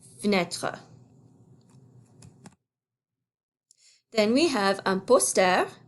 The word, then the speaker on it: fenêtre: That E is silent. Same with this, une fenêtre. So we say une porte, and une fenêtre, une fenêtre.